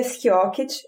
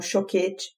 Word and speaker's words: Schiochet: Bom, meu nome é Schiocket, eu pronuncio desse jeito há um tempo já. Na minha cidade natal, que é Jaraguá do Sul, as pessoas falam choquete. E durante a faculdade, enfim, a pronúncia que as pessoas mais testam é ou, depende.